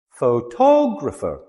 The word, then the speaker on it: photographer: Photographer.